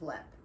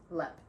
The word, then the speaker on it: Leap: It's not Leap, it's Lep. Hold on. Looks like Leap. Ugh. You did that, not me. I know that. Alright, it looks like Leap. It's L-E-A-P. It's pronounced Lep.